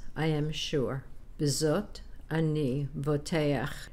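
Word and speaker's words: בּוֹטֵחַ: Bezot ani voteach. Remember to pronounce the patach a before the chet.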